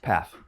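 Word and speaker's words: Pfaff: how do you pronounce your last name path path okay it's spelled with what p-f-a-f-f and what kind of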